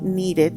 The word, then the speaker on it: needed: Y los verbos que terminan en d y t, como need, que termina en d, o hate, que termina en t, e, a esos hay que decir needed, o sea, se le añade la sílaba que falta.